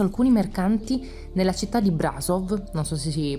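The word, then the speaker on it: Brașov: invito a pranzo alcuni mercanti nella città di brasov nostro si pronuncia così raga facendo di banchettare con il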